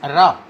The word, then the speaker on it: wrap: but the W is silent. We can pronounce it is as rap.